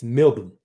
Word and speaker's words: Melbourne: We actually just wanted the city to be spelled Melbn. All those extra letters are interlopers. It's not Melbourne, despite how it looks. It's Melbourne.